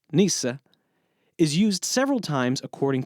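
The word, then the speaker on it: nyce: In The Canterbury Tales, nice, which, by the way, was originally spelled n y c e, and would have been pronounced nees-a, is used several times according to its original definition, meaning stupid or foolish.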